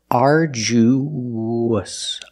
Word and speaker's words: arduous: U to the S there's a sound that links the vowels it's like a w it's the WW sound so together arju arju example they went on